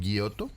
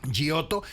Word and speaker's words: Giotto: el día de hoy gioto así se pronuncia gioto eh Y ayer revisando